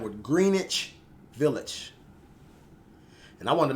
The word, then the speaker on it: Greenwich: channel let me know it's not Greenwich, it's Greenwich. So you kind of got a silent W in the word, so to speak.